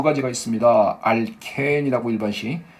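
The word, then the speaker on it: alkene: 알켄이라고 일반식. 이걸 이제 교수님들은 알킨이라고 발음하십니다. 근데 저는 그냥 알켄이라고 할게요.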